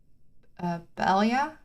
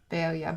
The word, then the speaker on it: paella: I pronounced it, and you need to pronounce the double L as a J, but I'm pretty sure I'm still saying it wrong. Paella is, I believe, how you're supposed to say it, and I'll still be butchering that.